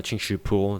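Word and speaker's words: Qingxu Pool: uh ching shu uh ching shu pool that's how i pronounce it in chinese but uh yeah i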